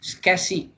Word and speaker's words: SCSI: The SCSI சொல்றது SCSI, SCSI னு தான் ப்ரொனவுன்ஸ் பண்ணுற ஸ்மால் கம்ப்யூட்டர் சர்ஃபேஸ் இன்டர்ஃபேஸ்.